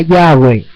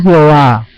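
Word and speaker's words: Yahweh: muy claros en que debemos pronunciar en nuestras or yah y estamos claro que el Eterno el creador del cielo y la tierra se llama yahwe no se llama Jehová ya en la nueva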